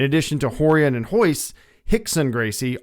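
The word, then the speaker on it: Rickson: career Journey Etc is the RS are pronounced like H's so horon is actually R Hixon is actually r i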